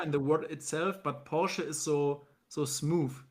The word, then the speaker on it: Porsche: Porsche but in I think in English it's Porche it's Porche so Porsche or so how do you pronounce it in German the actual in German